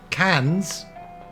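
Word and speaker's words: Cannes: the reviews it's fine cans yeah the the cans Film Festival there's an s on there yeah but we don't pronounce that s do we Mike don't me any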